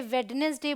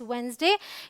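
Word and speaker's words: Wednesday: ये है वेंसडे, बहुत सारे लोग इसे वेडनेसडे बोलते हैं बट इट्स वेंसडे।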